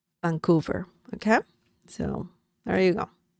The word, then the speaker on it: Vancouver: the city Vancouver okay Vancouver remember the V sound in Spanish is similar to b as in Bell Vancouver Vancouver okay so there you